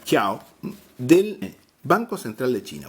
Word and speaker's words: Jiao: 2 Chiao, 2 Chiao, o Jiao se escribe en pinyin, pero sería Chiao, del Banco Central de China.